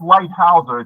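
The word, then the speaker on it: Leithauser: It's pronounced Lighthouseer.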